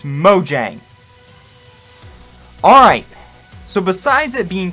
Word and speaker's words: Mojang: want to say it, I actually talked to a Swedish person and it's pronounced Mojang. Get it right, people. It's Mojang.